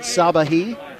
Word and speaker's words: Sabahi: I would have guessed Sabahi, and it turns out I would have been right.